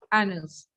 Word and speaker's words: anus: Anus is the correct pronunciation.